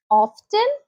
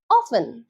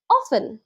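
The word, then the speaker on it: often: ভুল সঠিক হবে নেক্স ও এফটি কি বলবে অফটেন ভুল সঠিক হবে অফেন অফেন এবং অফেন মানে হচ্ছে প্রাই নেক্স পম পয়েম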